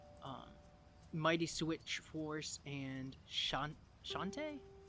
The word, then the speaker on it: Shantae: mighty switch force and shantae is that how you say it jonte yeah yeah the the genie hero